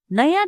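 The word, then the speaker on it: know: drink English सीखनु बोना नया ढोका खोलने सीखो यो कु ध्यान मा रास ल टीच टी ई ए सी एच टीच जानू थहा प नो के एन ओ डबल नो यहां के साइलेंट हु्छा के एन ओ डबल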